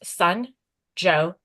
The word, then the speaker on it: Sanjot: My name is as you said, Sanjot. If you're curious, it's pronounced Sun-Jo.